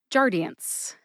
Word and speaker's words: Jardiance: hear when you hear me say it again Jian Jian I have two sources for the pronun